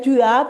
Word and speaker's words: tu as: Bien, tu as, perfecto. Cuidado que la S no se pronuncia, ¿eh? Ah, Tu as, tú Toi.